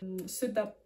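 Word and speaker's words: sedap: mot et du coup quand tu as un K à la fin du mot où tu as un thé par exemple dans tomate tomate nous enfin en indonésien tu vas dire tomate le thé à la fin mais du coup le thé tu vas le dire mais sans vraiment le dire ce DAP ce DAP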